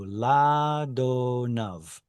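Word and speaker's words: לאדניו: Here it's a quiesced aleph. There's no vowel attached to it. So ladonav.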